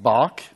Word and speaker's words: BARC: I know that the laboratory is pronounced bark but I fear that I will not very well pronounce your name.